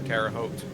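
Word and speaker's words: Terre Haute: I've also not paid attention and passed by uh the radio I was intercepting for Terraote. Oops. O, look at you pronouncing it correctly.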